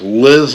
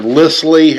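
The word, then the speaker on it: Lisle: have this tool by I think it's pronounced Liz or LLY l i s l e that you know has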